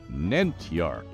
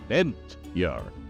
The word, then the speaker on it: Nentyarch: this and this is Nar two syllables emphasis on the first one Nar the narch was the